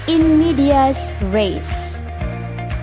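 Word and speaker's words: in medias res: visit that classroom today the third one is in media's race it is spelled as i n m-e-d-i-a-s r-e-s in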